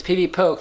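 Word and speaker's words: PvPoke: pokey PB poke yeah I just heard him say officially it's Peavy poke my bad Nina stop mispronouncing it Peavy poke calm he says it's cuz he calls them used to call them pokes for short used to call them pokes so that's why he calls it Peavy poke you know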